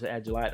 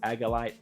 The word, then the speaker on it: Agilite: is made by aelite I pronounce agilite I've heard people call it agalite I think if if I'm not mistaken I heard L pronounce it agilite so that's what I'm going with that's what I've always pronounced and I'm going just stick with that so this is by aelite